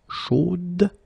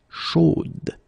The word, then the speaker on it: chaude: You will have to put this final e, chaude, okay, at the end, and then the pronunciation will change a little bit, chaude. So here you pronounce the final d, whereas in the masculine form you don't pronounce it.